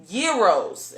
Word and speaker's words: gyro: i mean i know they're called gyros i know we call them gear rolls and everything else but i believe the pronunciation the the pronunciation is gyro and that's lamb meat